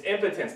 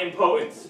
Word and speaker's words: impotence: well pronounce it correctly it's impotence not impotence what do you mean